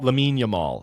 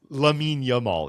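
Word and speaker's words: Lamine Yamal: Lamin Yamal. Yeah. Who that that pisses me off that his name is pronounced You can't have Yamin and then Lamal. No. Lamin Yamal.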